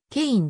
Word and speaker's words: Kean: しておりまたキーンの英語での発音はケインである 1935 年 4 月